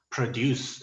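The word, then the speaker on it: produce: 강의를 진행하겠습니다 예를 들어 프로듀스 라는 단어는 동사 로써 생산하다 라는 단어인데요 강세가 갯수 뒤에 있습니다 풍길 쑥 이렇게요 근데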